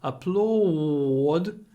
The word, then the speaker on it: applaud: the same sound again imagine that the U is a w applaud the actors the audience stood up to applaud the actors and don't forget the audience with a yence and to applaud with a W to oops put it